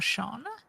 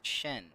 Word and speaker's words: Sheen: Wait, is your name actually Sheen or Sean? I kind of forgot to ask that. The way that it's normally pronounced is Shen, but...